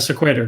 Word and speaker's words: Sequitur: I'm not sure how to pronounce it. Sequitur. Just got it confirmed from the designer of that.